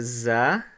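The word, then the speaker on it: ز: we have here the za in arabic and the za is like the z in english like as in zebra so that's pretty simple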